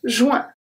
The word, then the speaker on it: juin: We are pronouncing the J, so the J is always pronounced the same. J, J. And then the U-I-N here is going to be pronounced W-I-N, W-I-N for me. Juin, juin, juin. So the I-N is exactly like printemps, printemps, the I-N, same thing. But the U is turning into a W, juin.